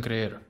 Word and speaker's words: creer: Please, do not make the mistake of pronouncing the double E as you will in English.